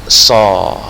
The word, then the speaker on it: saw: Ini bacanya mesti ingat kan, saw, bukan so.